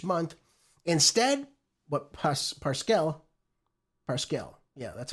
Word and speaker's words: Parscale: Instead, what Pas- Parscale Parscale, yeah, that's how you say his name.